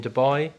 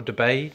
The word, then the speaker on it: Dubai: So I'll be in Dubai or Dubai, depending on where you're from and how you pronounce it.